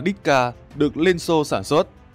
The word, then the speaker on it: DShK: khẩu dung đó là dshk đọc là diska được lên xô sản